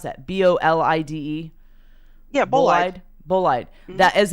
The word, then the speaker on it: bolide: One unexpected result to come from analysis of fireball data is the identification of a possible interstellar, how do you pronounce that? BOLIDE?